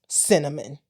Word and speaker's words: Synnamin: Honest to God, she named her spelled Synnamin, pronounced Synnamin.